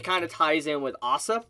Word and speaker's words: Asa: of ties in with Asa I believe that's actually how you say her name which technically saved a